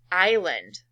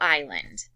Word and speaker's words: island: Next word, island. Say it. Spell island. I-S-L-A-N-D. Island. It looks like island, but this S is silent.